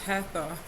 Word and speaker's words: Hathor: Beloved to ancient Egyptians for over 3,000 years, Hathor, pronounced Hathor, is a goddess of light, joy, and gratitude.